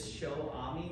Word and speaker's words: Xiaoami: It is Xiaoami, not Xiaomi or Xiaoami or Xiaoani or Shawarma.